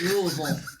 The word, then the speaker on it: Louisville: how to say it's you got to put that like marbles in your mouth Louisville Louisville they laughed at me I'm like